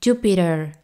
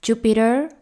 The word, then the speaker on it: Jupiter: de dos sonidos vocales cuando la t se encuentra entre dos sonidos vocales se pronuncia como r se debilita entonces así es como sale naturalmente Jupiter Jupiter esta e es flojita